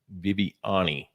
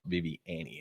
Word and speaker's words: Viviani: the same thing because I pronounced his last name Viviani Yeah. all Yep. the time. Yes, sir. Thinking it's Italian, Yes. you know, Viviani. And boy, he said, no, it's Viviani.